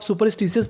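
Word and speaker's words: superstitious: क्या होता है अंधविश्वास देखिए जब आप सुपरस्टिशस पढ़ेंगे तो आपको आर का उच्चारण ऐसा करना है कि सामने वाले इंसान को पता ना चले कि आपने आर बोला है कि नहीं बोला तो मीनिंग बन गई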